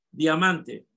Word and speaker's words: diamante: Bien, diamante tiene tres sílabas y la sílaba tónica la segunda sílaba, man.